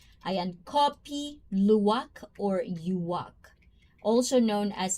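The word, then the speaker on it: kopi luwak: So it's a copy uwok. I I'm like Indonesian people. If there's any Indonesian in the chat right now, I am pronouncing it correctly. And copy luwak or yuwak also known as cvet.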